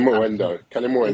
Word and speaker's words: Kalimuendo: Kalimuendo, if I'm pronouncing that right. Kalimuendo.